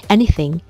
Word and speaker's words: anything: 이 anything의 th 발음 같은 경우에도 약간 스 비슷한 소리가 들어가니까 너무 이렇게 오버해서 anything 이렇게 하지 말고 살짝 물어주면서 anything 이라고만 얘기하면 돼요.